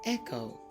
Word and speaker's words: echo: C it's usually silent you have words like chorus or Echo you don't hear the h you mainly hear the C here are some more